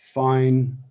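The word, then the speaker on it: Fyne: Well um lock fin pronounced fine.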